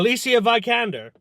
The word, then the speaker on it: Alicia Vikander: Alicia Vikander. That's how you pronounce it.